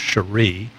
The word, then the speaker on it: Cherry: Hampton area uh North Cherry actually I think his last name should be pronounced Sheree talked to his dad